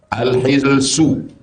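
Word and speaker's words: الحلس: Al-hilsu, hanya baris bawah, al-hilsu. Wa sukunul lam, lamnya baris sukun, al-hilsu.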